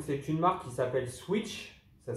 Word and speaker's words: Sweetch: amis suisses donc c'est une marque qui s'appelle switch ça s'écrit sweet16 h voilà sont des chevilles de